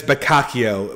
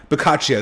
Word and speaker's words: Boccaccio: in quarantine so that's uh yeah it's it's bakakio bocaccio boccaccio that's it okay so yeah um i should have practiced the pronunciation of that before i actually told the